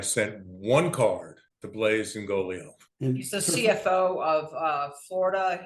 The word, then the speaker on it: Ingoglia: Is it Ingoglia? I pronounce it Ingoglia. Ingoglia, okay. Usually the second G is somewhat silent, but he may pronounce it totally different.